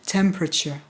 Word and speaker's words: temperature: prononciation avec les étudiants, qui est le mot temperature. Température, qui compte 5 syllabes en français, mais qui n'en a que 3 en anglais.